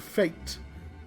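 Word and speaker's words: Fayt: But like Star Ocean has a character called Fate, F-A-Y-T, and like, but he's not just called Fate.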